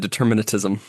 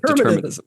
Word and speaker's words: determinism: Yeah, you said determinatism. I put a T in there, didn't it? Yes, you keep putting a T in there. Yeah, determinism.